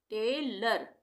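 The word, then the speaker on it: tailor: यदि किसी शब्द के अंत में ओ आर या ओ एन हो तब ओ का उच्चारण अ होगा।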